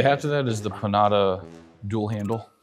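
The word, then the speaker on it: Panatta: what's up panata uh panata is they're Italian so that's how you say it properly they need to make aith yeah the closest thing they have to that is the panata Dual handle it's not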